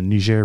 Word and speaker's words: Niger: all sorts of channels, but basically using the Niger River, as it's actually pronounced, the Niger River.